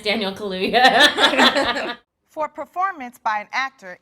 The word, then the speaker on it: Kaluuya: He's trying to pronounce Daniel Kaluuya. For performance by an actor in a leading role, Daniel Kaluuya.